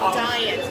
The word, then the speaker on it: Dion: Because we pronounce our last name Dion instead of Dion. So Dion to Slot. Like I'm dying to open my Christmas present.